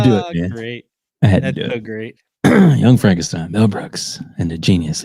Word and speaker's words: Frankenstein: Dr. Frankenstein. Frankenstein. You're putting me on. No, it's pronounced Frankenstein.